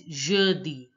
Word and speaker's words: jeudi: Thursday is pronounced as jeudi. Jeudi. EU sound is pronounced as a, a, a. So it becomes jeudi, jeudi. Jeudi. Now listen to the pronunciation of the native French speaker to pronounce better. Jeudi.